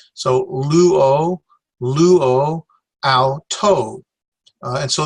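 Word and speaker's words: λύω: This is the word luo, and so we stress the upsilon, luo.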